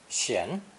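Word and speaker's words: 閑: element in the middle this character is also pronounced second tone shin shin and originally meant a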